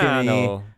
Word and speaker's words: Toscano: Toscano. Yeah, You got to say it like that.